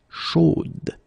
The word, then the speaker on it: chaude: You will have to put this final e, chaude, okay, at the end, and then the pronunciation will change a little bit, chaude. So here you pronounce the final d, whereas in the masculine form you don't pronounce it.